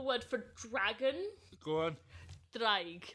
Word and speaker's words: draig: Draig. But it's spelled D-R... Draig. Yeah, you gotta roll the D. It sounds a bit Game of Thrones.